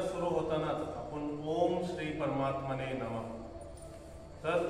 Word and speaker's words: परमात्मने: करताना एवढं लक्षात ठेवायचं परमात्मने प मध्ये पण अकार जोडलेला आहे तो सोडायचा नाही परमात्मने म्हणलं तर इथं र अर्धा झाला आणि अकार सुटला तर हे उच्चारण अशुद्ध झालं म्हणजे आत्तापर्यंत आपण जे